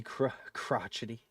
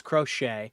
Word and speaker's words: crochet: You're too young to be crotchety. I like crotchet. That's funny, bro. No, it's crochet.